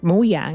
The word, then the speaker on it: Mojang: just looked it up Mojang is based off Swedish word mo mo Mojang and Mojang moang is pronounced the Y but Notch pronounced it with a J for years and named his company